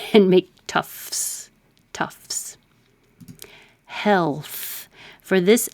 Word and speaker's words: Tufts: Tufts is a university. Maybe I'll put that here. But we don't take time to make the second T, tufts. Just skip it and make tufts.